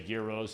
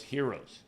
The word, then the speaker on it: gyros: you get it you some people say Gyros Heroes it all depends right Europe well so